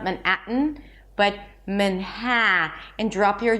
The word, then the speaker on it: Manhattan: And when there is a T, awah, a reduced vowel, and then an N, we release the T through the nose. I call it the nasal T. Manhattan.